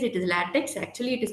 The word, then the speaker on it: LaTeX: So as the spelling says, it is LaTeX. Actually, it is pronounced as LaTeX.